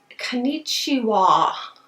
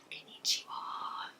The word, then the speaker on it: Konnichiwa: And this one is their Hello Kitty, and I finally figured out how to say it, is Konnichiwa. Konnichiwa.